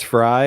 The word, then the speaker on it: Frey: Either way, I've known people that with their last name Frey and it's Fry, but who knows? I've known people where it's probably Frey. Who knows? If it turns out it's Fry, and the people who